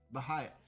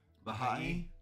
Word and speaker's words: Baha'i: Baha'i. I want to learn how to say it correctly though. I can't see how it's spelled. Oh, Baha'i.